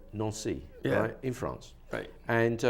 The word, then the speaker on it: Nancy: no nearly nancy nancy your name is pronounced no so yeah france yeah not naazy yeah it's a non-si yeah in france they